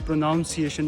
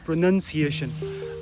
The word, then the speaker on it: pronunciation: ये प्रोनाउंसिएशन नहीं है, इट्स प्रोनंसिएशन.